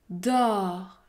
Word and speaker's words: dos: maintenant dos do do la lettre S est également muette elle n'est pas prononcée do do le mot do